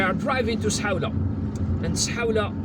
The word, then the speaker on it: Saoula: And now we are driving to Saoula, and Saoula, or Saoula as it's spelled, S-A-O-U-L-A, is another suburb of Algiers, but in fact it's like a small town.